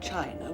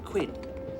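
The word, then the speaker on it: Qin: the Great Wall of China was designed by the emperor Quinn whose aspiration Excuse Me Miss Seymour it is pronounced chin oh thank you Mr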